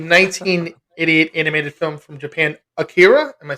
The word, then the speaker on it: Akira: The 1988 animated film from Japan, Akira.